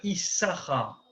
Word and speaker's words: Issachar: vous avez fait attention, le mot Issachar, il s'écrit Yud, Shin Shin, Kaf Resh. Les pros liraient Issachar, hein, Issachar, parce qu'il y a 2 signes. Et pourtant, on lit que Issachar.